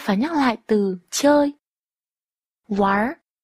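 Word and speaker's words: 玩儿: Wár. Wár. Từ này đọc là ván và uốn lưỡi ở cuối.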